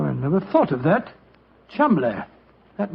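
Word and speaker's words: Cholmondeley: Being an American, he had no reason to know that the name Chumbllay is in no way pronounced the way it is spelled. Joe, I never thought of that. Chumbllay.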